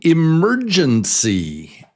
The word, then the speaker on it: emergency: What's the strong syllable? Do you hear it? It's number 2. So it's 4 beats, and number 2 is the strong syllable. Mur. So it's emergency.